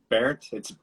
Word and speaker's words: Bernth: It's Bernt. It's weird. It's spelled like Bernt, like BERNTH.